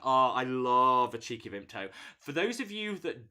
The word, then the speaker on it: Vimto: vimta so it's pronounced vimto but up north where i'm from we don't pronounce the t so it's just vimta um and it's like